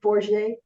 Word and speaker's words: Forget: for do you pronounce it for? It's for yes for I knew it had to be.